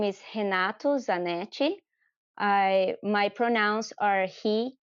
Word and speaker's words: Renato: É isso, meu nome está certo, é Renato. Esse R no começo tem som de H na língua inglesa.